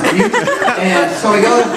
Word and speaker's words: Butte: Butte, Montana is actually like Butt with an E, but it's pronounced Butte.